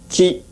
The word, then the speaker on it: qi: Chinese pronunciation qi, Korean pronunciation ji.